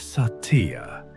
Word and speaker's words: Satya: The ancient principle behind this transformation is called Sattva, pronounced as Satya, which means truth or authenticity.